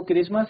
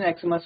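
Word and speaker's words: Xmas: इसका जो प्रोनंसिएशन है वह क्रिसमस है। तो हमने अ का यूज किया है। बट अगर हम इसको एक्समस ही पढ़ें या इसका प्रोनंसिएशन एक्समस होगा तो आर्टिकल एन का यूज़ होगा।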